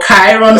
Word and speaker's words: Chiron: Studying your charts and literally looking at your Chiron, literally using your Chiron position, or Chiron, some people pronounce it that way, which is your deepest wound.